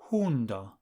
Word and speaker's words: hundo: Dog is hundo. Hundo. Hundo sounds a little like the English word hound.